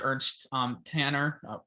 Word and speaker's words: Ernst Tanner: I think it goes to show you what patience, what having someone like Ernie Stewart to Ernst Tanner. Yeah, you had that right. Yeah, I was like, yeah, that's the pronunciation.